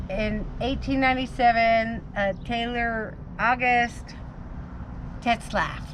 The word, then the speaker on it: Tetzlaff: bordello and and in 1897 uh taylor august tetzlaff how do you say it t e t